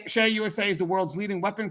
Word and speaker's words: CEIA: shear usa now guys it's spelled ceia shea usa ceia and it's uh share usa is the world's leading